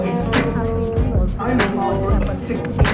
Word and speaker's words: Sikh: Some people pronounce it Sikh, but the actual pronunciation is Sikh.